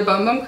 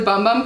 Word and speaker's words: Bum Bum: Seriously, I would recommend this over the Bum Bum Cream or Boom Boom Cream, I think is the right way to say it.